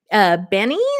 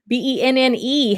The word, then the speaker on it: Benne: Benny, am I pronouncing that right? Benny? Benne.